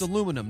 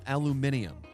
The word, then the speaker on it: aluminium: And it's it's it's aluminum, not aluminium. That is really weird. Like, you're adding more syllables than there are letters. I know. Doesn't make any sense. It's like, spell that, please. Aluminium. Yeah, aluminum. Yeah, it does. They're adding an extra I.